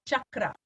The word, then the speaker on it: chakra: is the word chakra it gets pronounced in many different ways but the Sanskrit way of saying it is chakra and the idea of